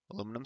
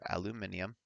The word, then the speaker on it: aluminium: so in this case aluminum is the positive or if you prefer aluminium I don't mind the the British Way of pronouncing pronouncing it second stuff name